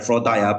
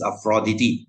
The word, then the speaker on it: Aphrodite: came from afrodity okay guys this is not pronounced as Aphrodite please stop saying Aphrodite this is afrodity okay afrodity got changed to Venus okay this